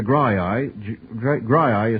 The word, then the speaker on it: Graeae: Polyphemus, the Graii is spelled Graeae.